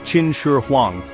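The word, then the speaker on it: Qin Shi Huang: His name was Chin Sher Huang, pronounced Chin Sher Huang.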